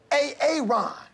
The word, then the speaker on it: Aaron: I said it like 4 times, so why didn't you say it the first time I said A-A-Ron? Because it's pronounced Aaron?